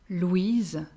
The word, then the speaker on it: Louise: But another version of that name is Louise, Louise, and this version is entirely feminine.